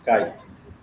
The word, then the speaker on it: chi: This is called pronounced as chi, the symbol.